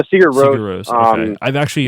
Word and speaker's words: Sigur Rós: And is it Sigur Rós? Did I pronounce that correctly? Yeah, Sigur Rós.